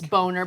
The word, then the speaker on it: Boehner: It's just like Boehner. Come on, it's Boner.